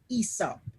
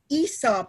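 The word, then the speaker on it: Aesop: the environment there was a great storyteller called esop ever heard of isa okay so his name is spelt a-e-s-o-p and for the big people who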